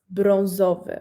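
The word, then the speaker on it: brązowy: here we have brown it's bronzov okay same same case with our a little bit french vibes letter uh a uh and there's a poster of under so it's o we pronounce like bronze of it okay we need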